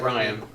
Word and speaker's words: Rian: R-I-A. No, you're right, Ryan.